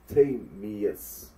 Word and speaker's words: Timaeus: It's a Greek name, and it gives you at least two pronunciations, both close. One of them put more emphasis on the tie. Then the other one is Tamius.